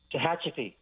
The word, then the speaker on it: Tehachapi: Tehachapi.